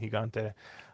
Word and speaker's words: Gigante: he got or or Gigante or whatever the heck however they're going to call it but uh we'll say we'll use the Spanish pronunciation higante um horse to beaten